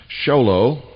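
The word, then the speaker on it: Show Low: post office box 1420 sholo that's spelled sh o w l Arizona 85901 that's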